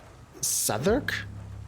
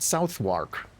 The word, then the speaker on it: Southwark: reach the West End South sudark is is that how it's pronounced I would have called it southwark is it with you Brits can you not pronounce words the way they are written sup Chris why do